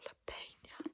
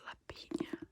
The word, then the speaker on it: La Peña: Oh, La Peña. Oh, I thought it was La Piña. La Pina. Sherry La Peña.